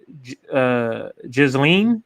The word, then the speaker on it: Ghislaine: We're talking about, I think you say her name, Ghislaine.